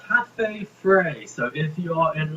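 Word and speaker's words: Cafe Frei: It's called Cafe Frey.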